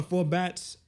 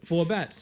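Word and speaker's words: 4Batz: Four bats. Four bats. Four four bats. Like four b a tz.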